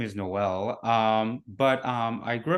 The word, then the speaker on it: Noel: your name right yeah it's actually pronounced um like Christmas like Noel so it's like a Noels art yeah oh okay um